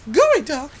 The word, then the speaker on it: geoduck: Oh, gooey duck. And what a name. Though I think it's spelled Geoduck, which is like really weird.